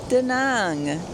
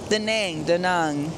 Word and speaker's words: Da Nang: Yes, I am back in Vietnam, and I am in Da Nang. Da Nang. I think you pronounced it Da Nang.